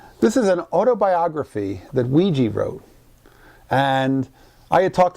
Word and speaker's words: Weegee: And he actually, I think he describes himself and pronounces it as Weegee. That's what he says, Weegee.